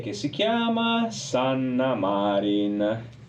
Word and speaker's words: Marin: E che si chiama Sanna Marin. Marin, non Marin, perché non è di San Donadif Piave. Sanna Marin, la streghetta. No, non essendo dell'Alto Veneto, è Sanna Marin, l'accento va sulla A.